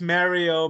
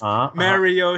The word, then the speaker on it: Mario: It's pronounced Mario because we interviewed Charles Martinet and he says Mario himself.